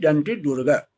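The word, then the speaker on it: Dantidurga: In English, you have to pronunciate it Danti Durga.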